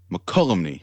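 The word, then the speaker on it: Mokelumne: The IOOF Hall in Mokulumne? I don't know. You spent some time in California. How do I pronounce that word? McCollumney.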